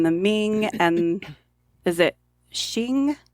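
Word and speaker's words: Qing: Ming and is it Shing q i n g I think it's pronounced I think it is Shing yeah the Ming and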